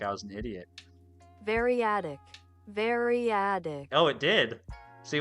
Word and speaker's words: variadic: How do you say this word? Variadatic? English. Variadic. Variadic. Variadic.